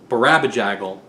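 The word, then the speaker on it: Barabajagal: And much like the Donovan album Barabajaggle, where they say Barabajaggle like 100 times, it's very clear, Jackin'. I'm gonna Monobone Jackin'. And everyone mispronounces it.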